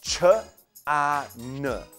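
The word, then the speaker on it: ฌาน: Chaw, then the vowel sound of ah, and then nonu at the end. Ch, a, n, or chan, which means a state of serenity attained through meditation.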